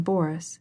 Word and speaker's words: Boris: She pronounced the name Boris with the accent on the first syllable.